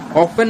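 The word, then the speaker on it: often: ऑफन में T silent होता है।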